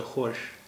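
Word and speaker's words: خوش: देखिए यहां डब्लू है ये खुद का उच्चारण है यहां भी डब्लू है तो जाहिर सी बात है कि पहले इसका भी उच्चारण होता रहा होगा ख त या खश जैसा कुछ उच्चारण रहा होगा लेकिन बाद में उनका उच्चारण बदल गया य खुद हो गया य खुश हो गया लेकिन जिस स्पेलिंग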